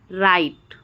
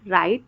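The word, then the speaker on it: write: अगर आर से पहले डब्ल्यू आ जाए तो क्या हो जाता है? डब्ल्यू साइलेंट हो जाता है। जैसे कि wrong, राइट, wrong, राइट, rap, wrapper, रिंकल और रिस्ट।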